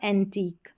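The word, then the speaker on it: antique: Number 19 पर है you silent, Q यू ई के कॉम्बिनेशन में, क्यू यू ई के कॉम्बिनेशन में, क्यू यू ई, यहाँ पर भी, यहाँ पर भी, और यू साइलेंट है। यूनिक, टेक्निक और एंटीक, इस तरीके से।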